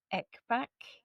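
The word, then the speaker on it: Ekbäck: Wolf Winter by, and I'm gonna butcher her name. It's Cecilia Ekbak. I want to say Ekbak. I will spell it for you. Her surname is EKB, A with the 2 dots over the top, CK.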